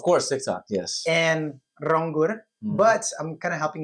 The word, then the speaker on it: Ronggur: And Rangur, but I'm kind of helping you guys out. It's wrong dot gr. So, you know when the when you know it's two syllables.